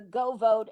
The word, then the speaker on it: GeauxVote: Now, I would strongly suggest to all of your viewers that they download the Go Vote app on your phone or your Mm-hmm. computer. It's spelled GEAUXVOTE.